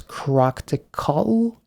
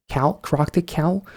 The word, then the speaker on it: ChRocktikal: So you put all of that together, and it's ChRocktikal, ChRocktikal, or ChRocktikal. But if you do struggle with the pronunciation of the name, you can just say CRTK, I guess.